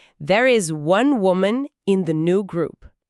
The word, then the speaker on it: woman: A frase é: "There is one woman in the new group." E a palavra final, woman. É um som bem suave, né? O a no finalzinho soa como aquele famoso chuá do inglês, que é um som